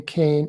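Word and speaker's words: Kean: reporter named leslie kane she pronounces her name kane it's spelled k-e-a-n she's the one that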